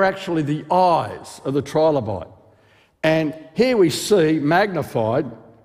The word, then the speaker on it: trilobite: do we call it trilobite well you Americans say trilobit but I say trilobite because it's Tri three loes three loes see silence isn't all that